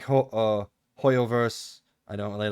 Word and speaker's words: HoYoverse: that's the devil that's how you say it hoyoverse they showed off genji impact trailer uh it's